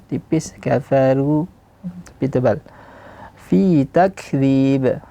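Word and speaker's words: تكذيب: Di sini sering terjadi kesalahan di kaf yang diqalqalahkan. Takzib. Takzib. Nah. Untuk apa? karena ingin menghadirkan sifatnya. Tapi salah sifatnya dia seharusnya di sini bukan qalqalah tapi e hams. E setelah syiddah takzib. Takzib di ba yang terakhir baru ada qalqalah.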